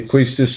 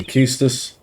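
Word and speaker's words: Quistis: That was your teacher is I've never I've never been too sure how to pronounce our teacher's name. Some say Quistas, some say Keus. I say Keas myself, but I may occasionally call it Quintis, but you know, it's Keas surely.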